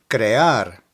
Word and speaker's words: crear: Crear, crear.